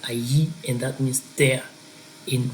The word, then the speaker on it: allí: The second one today is allí, and if you see the double L in Spanish, it sounds like it's a Y in English, so that double L there is going to be pronounced like allí, and that means there in reference to a place.